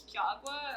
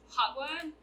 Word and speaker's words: jagua: technically this isn't hinna it's jaguar or hot one as it's pronounced because i think it's